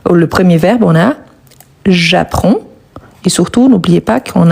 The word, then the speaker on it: j'apprends: On ne le prononce pas. On ne prononce pas non plus le D, mais on doit les écrire. Donc, j'apprends.